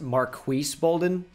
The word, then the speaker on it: Marques Bolden: from basketball reference that it's actually pronounced marques bolden for the uh the cavs center okay sure we'll simulate